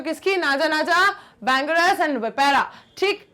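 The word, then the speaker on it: Vipera: है, बैंगरस, क्रेट और विपेरा, ठीक है, या वाइपर या वाइपर, जिस भी तरीके से इसको प्रोनाउंसिएट करना चाहो, ठीक है, विपर बोलते हैं या वाइपर बोलते हैं, ठीक है, विपेरा, ठीक,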